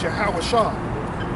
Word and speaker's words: Yahweh Shah: His name is Yahweh Shah. The Lord's name is Yahweh Shah. Yes. Yahweh Shah. You gotta say it right.